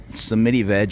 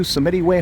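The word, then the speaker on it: Samitivej: saying that, I said Samiti veg for years, and I think that's wrong. I looked something up on the website, and they said, welcome to Samiti Way Hospital, so that's how I'm going to pronounce it.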